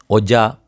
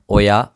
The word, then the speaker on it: ඔයා: ஒஜா ஒயா ஒஜா அந்த மாதிரி இல்லை. ஒயா யனக்கோட்டை கியான்னு. ஒயா யனக்கோட்டை கியான்னு.